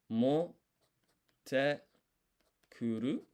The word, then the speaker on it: motte kuru: And then we've got this half-size tsu, which is called tsukuon, which basically you don't pronounce, but it's like a pause so that there's more emphasis on the te here. So this is motte kuru.